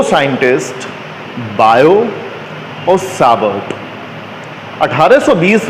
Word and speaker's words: Biot: बायो spelling लिखते हैं BIOT, है ना, पढ़ते बायो हैं, बायो-सावर्ट लॉ।